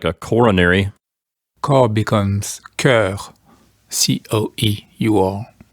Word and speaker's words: cœur: Corps becomes cœur. C-O-E-U-R. Not too much of a pronunciation change, although we do have an additional vowel, the letter E, and also the letter U.